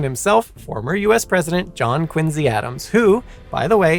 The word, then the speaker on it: Quincy: mother's side, Colonel John Quincy, a prominent individual in Braintree, which Quincy, Massachusetts sprang from. And yes, once again, contrary to popular belief, this should be pronounced Quincy rather than Quincy.